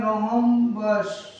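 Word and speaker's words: rhombus: और इंग्लिश में इसको बोलते हैं रोमबस। जिसमें ये साइलेंट रहता है।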